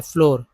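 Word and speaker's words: floor: Moon में double O का उच्चारण ऊ होता है, फ्लोर में डबल ओ का उच्चारण ओ होता है, फ्लोर।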